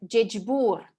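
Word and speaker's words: ӟечбур: «З» с 2 точками произносится как «дж», как, например, в слове «джеджбур». «Джеджбур» означает «здравствуй».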